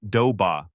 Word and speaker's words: Doba: And yes, for the record, it is officially pronounced Doba.